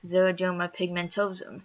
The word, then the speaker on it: xeroderma pigmentosum: pigmen stupid either way that's how it's said xeroderma pigmentosum it's a problem with the pigment of my